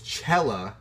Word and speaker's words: Chela: So, Doña, with the tilde, but it's Chela because there's only one L. Is that right? Otherwise, it'd be Chea.